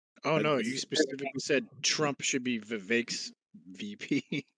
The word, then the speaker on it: Vivek: Trump should be Vivek's VP.